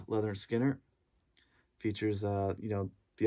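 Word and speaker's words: Lynyrd Skynyrd: is their debut album pronounced leather skinner features uh you know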